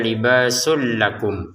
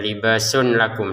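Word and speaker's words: لباس لكم: Maka kita masukin ya tanwinnya sin di sini tanwinnya masukin ke lam sehingga cara bacanya libasul lakum ya. Bukan dibaca libasun lakum lagi.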